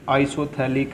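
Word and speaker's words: isophthalic: ये आइसोथैलिक है, P silent आइसोथैलिक acid, ठीक है।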